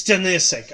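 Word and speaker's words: Stanišić: It's Stanisic. Okay, Stanisic. That's how you pronounce it.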